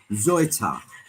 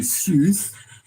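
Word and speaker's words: Seuthe: Zoita. Zoita. Yes, there you have it. It's if you pronounce it in English, it'll be Soothe. My version was Salte, but it's actually Zoita.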